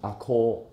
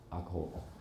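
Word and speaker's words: 赤穂: 的地方，赤会念成阿科啊阿科。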